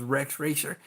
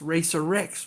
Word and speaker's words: Rex Racer: thing about the Racer X being you know Rex racer because his name was Rex racer so every time they would say that in